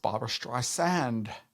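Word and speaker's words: Barbra Streisand: It's pronounced Barbara Streisand.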